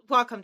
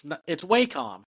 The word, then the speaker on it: Wacom: Wacom tablets. Yeah, when everyone was like, it's Wacom. It's like, it's Wacom. It's Japanese, so because I don't think in Japanese they have that pronunciation.